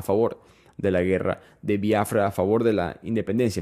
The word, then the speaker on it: Biafra: y por si acaso se escribe biafra no tiene acento en la i estoy diciendo biafra porque en el inglés especialmente en Nigeria se pronuncia de esa manera y estoy tratando de